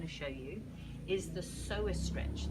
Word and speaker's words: psoas: What I'm also going to show you is the psoas stretch. That's spelled P-S for sugar, O-A-S for sugar, P-S-O-A-S, so it's got a silent P.